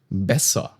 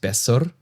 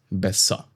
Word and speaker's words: besser: Or bessa. Bessa. Not besser, but bessa.